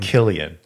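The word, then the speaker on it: Cillian: not even close wait is his name Gillian or Killian Killian it's actually spelled with a c so I actually thought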